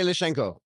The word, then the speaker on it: Lishchenko: Sergei Lishchenko. Yeah, wow, you got it right. It's not that hard. It's just syllable. Yes. It's just the SHCH that gets people screwed up.